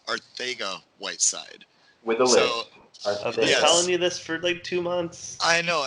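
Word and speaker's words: Arcega-Whiteside: Miller and bear with me here we are Saiga Whiteside but apparently it's pronounced Ortega Whiteside with two months I know and I thought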